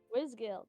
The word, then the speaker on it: Wizgill: How do I say her name? Wizelle? Wizgill? Wizgill, that's the one.